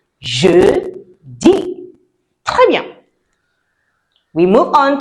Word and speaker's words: jeudi: Next one is jeudi. Jeudi. Jeudi. Right. Je. And E before the D. Jeudi. It's not J-D. Please, please, please don't say J-D. You make me sad. It's jeudi.